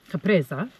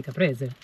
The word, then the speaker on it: caprese: They call it capresa, I think, but in Italiano we say caprese.